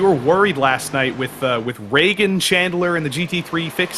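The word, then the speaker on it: Ragan: Do you want to guess how his name is spelled? R-E-G-A-N? No, it's R-A-G-A-N. Okay, well that makes sense. Reagan.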